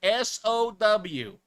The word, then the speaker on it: Sow: All right, so the peach rings, you can get those at Walmart's nationwide. This one is called So Good, S-O-W, which is not pronounced so. It's actually sow, like a pig, or son of Waiachi